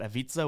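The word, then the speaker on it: Ivica: million times on TV can never pronounce zubac's first name and he said it rmes with pizza and I was like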